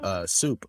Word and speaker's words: SUP: to go was this place called Soup, but it's spelled Oh yeah. SUP.